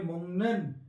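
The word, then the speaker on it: 먹는: Kaya ang dadagdag natin ganito na po siya pag pinagsama natin hindi po siya mukn mga lodi. Ang tamang pronunciation nito ay mongen.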